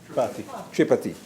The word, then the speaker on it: Tripathi: Senator, and I just want to get that pronunciation right. You mind? Tripathi.